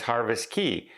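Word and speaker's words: Harvest Caye: Now, places like Norwegian Cruise Line has Harvest Key, or Harvest K, depending on how you would like to pronounce it.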